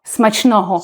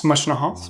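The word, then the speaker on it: смачного: So, and you can just say smachnoho, which means bon appetit in Ukrainian. So smashno? Smachnoho. Smashnoho? Super, good pronunciation.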